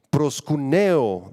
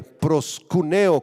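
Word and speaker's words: προσκυνέω: brevemente la palabra adoración prosun Neo del griego con acento en la e prosun Neo con k y acento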